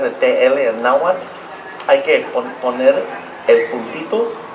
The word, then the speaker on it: Nahuatl: We're going to sing it in the idioma Nahuatl, not Nahuatl, Nahuatl. If you want to know how to say the TL para pronunciar el TL en Nahuatl, hay que poner el puntito de la lengua detrás sus dientes superiores, así.